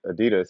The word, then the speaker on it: Adidas: name is Adi and his last name is dasler Das ADI Das that's what it's pronounced I say Adidas his name is uh